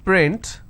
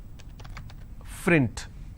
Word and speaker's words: print: word which is print lot of people pronounce this as frint so that is where the mistake happens okay there's some people who cannot pronounce the the per sound they replace that with the first sound for example if i